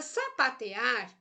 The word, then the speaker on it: sapatear: Sapatear é uma palavra oxítona. Por que ela é uma palavra oxítona? Porque a sílaba tônica, porque a sílaba mais forte dela é o ar.